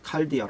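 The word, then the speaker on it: καρδία: 원어로 이것 은 " 카르디아 " 입니다 . 카르디아 . 아 , " 카르디아 " 라고 발음 해야 해 요 .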